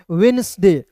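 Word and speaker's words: Wednesday: यहां पे डी को साइलेंट करना है। तो देखिए डब्ल्यू ई का पढ़ेंगे वी एन ई एस डी ए वाई नेसडे। नेसडे वेडनेस वेडनेसडे वेडनेसडे वेडनेसडे।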